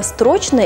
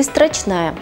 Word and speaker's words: строчная: рубрика грамотность в массы как правильно сказать по-русски буква строчная или строчная если заинтересовались смотрите далее если заглянуть в словарь и ту они дают единственный нормативный вариант ударения буква страшная путаница могла возникнуть